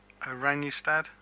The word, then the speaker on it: Oranjestad: The capital city, I think you said it's pronounced Oranjestad?